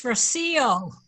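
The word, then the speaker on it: Rocío: Rocio. It's Rocio. Rocio, sorry. With the accent on the I. Sorry. My name has an accent on the I. Many people don't know how to pronounce it.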